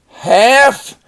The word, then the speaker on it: half: Half is when you cut something in half. And notice the L is silent.